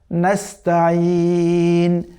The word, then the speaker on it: নাস্তাইন: ইয়ার মতোই, ওয়া ইয়াকা নাস্তাইন, নাস্তাইন। এখানে সিন এবং এই আইন, সিনটা খুবই পাতলা হবে, আবার আইনটা এই যে আমাদের কণ্ঠনালী আছে, কণ্ঠনালীর মধ্যভাগ থেকে উচ্চারণ হবে, কেমন?